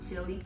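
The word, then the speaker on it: ghee: They call it chi. What chi is is spelled g h e e e e e e e e e e e e e e e e e e e e e. It's clarified butter.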